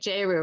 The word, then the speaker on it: Jeru: Am I supposed to be pronouncing it Jeru, right? Is that the right way, or did I pronounce it? Yeah, that's right. Jeru.